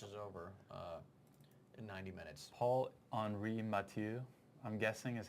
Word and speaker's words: Paul-Henri Mathieu: Paul-Henri Mathieu, I'm guessing is how you pronounce that? Yeah, Paul-Henri Mathieu.